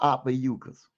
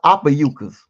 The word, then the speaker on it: Ophiuchus: So, if you don't mind, sister, will you pull up how long is the sun in the sign of Ophiuchus?